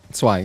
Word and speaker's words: zwei: And he told me that Z is like a TS sound, like ts. And then so it's just like zwei, Zweihundert.